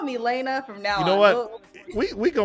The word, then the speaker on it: Jahlaina: say yes but no okay you call me Elena from now you know what we we go we're gonna work with we're going to work with Elena I'm gonna be like Miss Lana yes okay